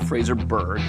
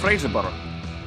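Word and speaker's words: Fraserburgh: No, it's not Fraserburg, it's Fraserborough.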